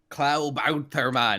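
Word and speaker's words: Klabautermann: And I think it's pronounced Klaubautermann. Klaubautermann.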